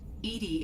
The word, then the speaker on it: EDI: a specific inquiry why are you named edie edie is the phonetic pronunciation of that is an acronym for enhanced